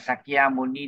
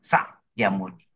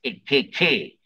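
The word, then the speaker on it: Sakyamuni: So sometimes we pronounce Sakya Muni like SAKKYA. Actually, it should be SA apostrophe. KYA, Sakya Muni.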